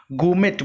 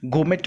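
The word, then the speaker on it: gourmet: गोमेट बोलते हैं इसको, आर साइलेंट, गोमेट बोलेंगे।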